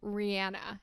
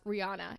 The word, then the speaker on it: Rihanna: And she pronounced her name as Rihanna. And I'm sure a lot of people have known this, but collectively as a society, pretty much almost everyone has been pronouncing it as Rihanna, including myself, for my whole life. So isn't that crazy that everyone as a whole has been pronouncing her name wrong?